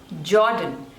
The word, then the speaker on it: Jordan: Japan next is Jordan Jordan suja the stress is on the first label jaw done Jordan this one is Kazakhstan or